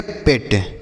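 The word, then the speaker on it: pet: तो अगर इ लिखा होगा दो कोसोनेंट के बीच में तो हम ए की मात्रा पढ़ेंगे। समझ में आ गया?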